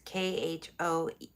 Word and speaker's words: Khomeini: It's Khomeini. I always hate when I mispronounce names because I hate when people mispronounce mine.